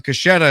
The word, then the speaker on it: Caschetta: Please don't be mad if I mispronounce Caschetta.